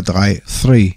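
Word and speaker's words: three: Die 3 kann man im Flugfunk als Tri sprechen, also ohne TH. Normalerweise spricht man die Ziffer 3 3 aus. Aber da das TH, also TH, für viele ein Problem ist und Tri deutlicher zu erkennen ist, ist es im Flugfunk so zu benutzen.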